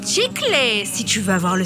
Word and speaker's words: chicle: Prononce chicle si tu veux avoir le style.